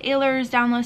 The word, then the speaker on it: Ehlers-Danlos: Some people call it Ehlers-Danlos Syndrome. As far as my research has gone, that's more like UK and Australia that calls it Ehlers, but there's different ways you can pronounce it. Both are correct.